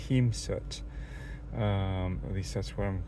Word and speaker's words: Hēmsut: If you have that kind of line over an E, it's a long E sound.